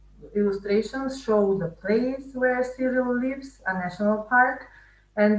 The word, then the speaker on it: Cyril: Cyril rhymes with squirrel, and Pat rhymes with rat.